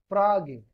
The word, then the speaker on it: Frage: This Frage, if you want, then this Frage, it can also be pronounced like F-R-A-A and G. Frage.